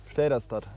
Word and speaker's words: Väderstad: Ganz einfach, wie man es eigentlich schreibt. Vaderstedt. Vaderstedt. Das ist eigentlich nicht schwer.